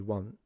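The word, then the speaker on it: は: you from picking the one that you actually want. In Japanese, for instance, there is a particle pronounced wa wa Yeah.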